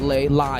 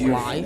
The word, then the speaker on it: Lei: Not Lee. His name his name is pronounc in Cambodia is lie. So L I E I think I I just call it lie.